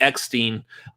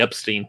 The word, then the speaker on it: Eckstein: I've seen content lately now of Ashley Eckstein. I even get pronounce her name properly now. I used to say Ashley Epstein, but I've seen images